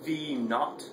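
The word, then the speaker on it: v₀: thing this is pronounced v naught that's actually a little zero there so b zero this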